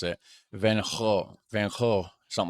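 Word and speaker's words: Van Gogh: mention van go or uh how do you pronounce it van vanho something like that its vibrant Traditions like King's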